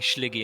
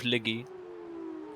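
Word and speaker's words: Sligo: So I got whipped the other day for saying Schliggy instead of Liggy. Schliggy? Yeah, Liggy actually. Oh, Schliggy. County Liggy. County Schliggy. Yeah. Because you don't pronounce the S if there's a H.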